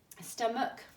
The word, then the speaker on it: stomach: write it okay um stomach we don't pronounce that h either vehicle unless you live